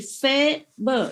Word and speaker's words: Faber: It's written F-A, like in Vietnamese A. It's like cafe in French, pronounce it like yes, A in French. And B and is pronounced more or less like like in urgent.